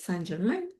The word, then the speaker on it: Saint-Germain: hace un videíto de cómo ellos pronuncian Saint-Germain, porque es Saint-Germaine. Saint-Germain aquí en francés de Quebec.